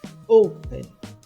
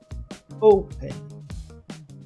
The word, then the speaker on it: open: O mesmo se aplica para open. O stress está na primeira sílaba. Open. Open.